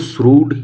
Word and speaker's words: shrewd: हालांकि ये spelling श्रूड की जैसी लगती नहीं है, लेकिन इसके हम प्रोनाउंस जो करते हैं, इसका जो प्रोनाउंसिएशन है वो श्रूड ही होता है, ये आप याद रखना।